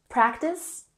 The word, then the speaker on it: practice: Practice has emphasis on the first syllable. Let's practice. Practice.